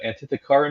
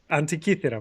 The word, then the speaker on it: Antikythera: like this because it's a Greek mechanism, the Antithekara mechanism. Am I saying that right? Antikythera mechanism.